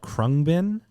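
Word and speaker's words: Khruangbin: yeah uh right now it's a group called krung bin spelled k h r U a n g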